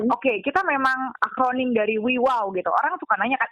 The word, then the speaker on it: WAW: juga ya karena Oke kita memang akronim dari Wi wow gitu orang suka nanya kan Eh bacanya wew Wi Wow sih Wi wow gitu